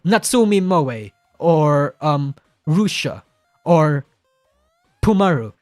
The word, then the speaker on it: Natsumi Moe: It's like Natsumi Moe or Rusha or Pumaru. Like, I know how to pronounce their names.